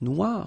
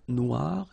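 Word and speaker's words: noire: So it's quite funny because you will have to add this uh at the end of noir for the feminine form but then you don't pronounce it. Okay. So phonetically it is exactly the same noir.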